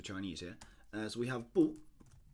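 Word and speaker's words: 不: So we have bu, like this, and typically it'd be spelled with or it'd be written out, or it'd be pronounced with a fourth tone.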